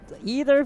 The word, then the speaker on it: either: they're like oh i used either for certain uh situations but sometimes i auto switch to like either i'm like huh yeah me too you know i actually googled this i was so curious about that exactly i googled it like i googled what the answer was apparently it's both that's how it works american english they're both correct i'm like okay sure